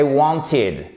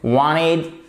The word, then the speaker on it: wanted: c'était sur LCI et j'entends wanted donc là mon sang commence à bouillir puisque c'est wanted si vraiment vous le prononcez à l'américaine wined ou wanted en anglais on va dire standard ça aussi et ce